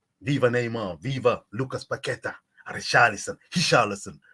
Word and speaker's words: Richarlison: Richarlison. Don't pronounce the R.